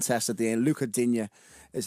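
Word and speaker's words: Lucas Digne: Oh, so it's Luca, not Lucas. It's like a silent test at the end. Luca Digne is how you pronounce his name.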